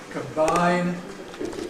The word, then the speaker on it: combine: Combine, combination.